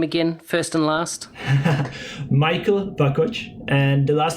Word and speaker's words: Vakoc: everybody your name again first and last michael bakkoch and the last name is spelled v-a-k-o-c hey thanks for listening i hope